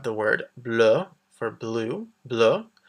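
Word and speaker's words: bleue: So we have the word bleu for blue, bleu. The extra E is for if it becomes feminine. The pronunciation is the same though.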